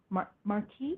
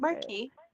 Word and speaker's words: marquee: Marquee or mark I don't know how you pronounce it. Marquee.